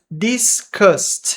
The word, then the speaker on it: disgust: Disgusted. E este U vai ter um som de a.